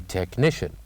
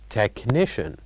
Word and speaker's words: technician: this word after me technician technician so what is the letter that we kept it silent in this word the letter is of course letter H and then we'll move